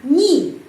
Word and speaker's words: не: NY n dua huruf tapi pengucapannya biasanya niyi Nyi Kenapa karena huruf ye itu tidak mendapat penekanan dalam kata tidak dalam kata n jadi pengucapannyayi di mana